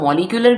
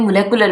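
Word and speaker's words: molecular: हम इसको मॉलिक्यूलर भी कह सकते हैं, मोलेकुलर भी कह सकते हैं। ये सिंपल ब्रिटिश और अमेरिकन जो है वो प्रोनाउंसिएशन का डिफरेंस है।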